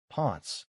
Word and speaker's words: ponts: She meant all the bridges, ponts, rhyming with cons, cunts.